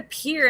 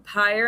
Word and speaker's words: pyre: They were like, I said a pier, and they're like, do you mean pyre?